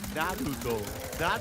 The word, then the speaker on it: Naruto: Naluto, you're white. What did What did I do? Naruto.